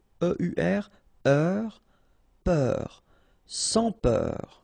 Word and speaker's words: sans peur: Sans peur. Don't pronounce the final S here.